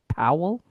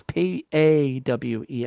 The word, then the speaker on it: Pawel: It was written by not Dick, but Nick Ziegler, Amanda Blanchard, and Diana Powell. It's Pawel.